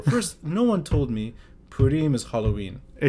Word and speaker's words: Purim: you'd take me to Purim service in the synagogue. And you made it very easy for me to understand what Purim is. I hope so. Am I saying it right, Purim? It's Purim, but yeah, you can...